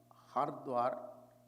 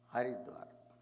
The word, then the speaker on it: Haridwar: Haridwar is both way pronounced. Hardwar, Haridwar. Hardwar is Dwara for Lord Shiva, Hara. And Hari is Dwara to pick up, both are correct.